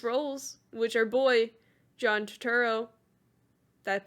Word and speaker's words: Turturro: universe called Jesus roles which are boy John Turturro that pronounce it right yep cool he directed wrote